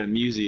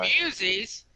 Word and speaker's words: Musi: Musi? Spell that. Yeah, Musi, it's free. It's MUSI. Oh, Muses? That's right, guys.